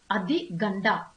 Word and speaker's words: Adi Ganda: The pronunciation is Adi Ganda.